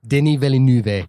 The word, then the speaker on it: Denis Villeneuve: Denis Villeneuve.